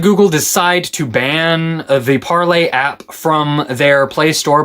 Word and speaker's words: Parler: Now, before you start criticizing me saying it's Parler, it was originally meant to be in Francais. The name was meant to be pronounced en français.